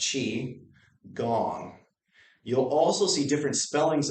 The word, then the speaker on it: Qigong: a little weird but it's pronounced chi like cheese almost but chi gong you'll also see different